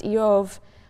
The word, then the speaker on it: Job: The name Job, which in Hebrew is pronounced Eov, is sort of bivalent in meaning.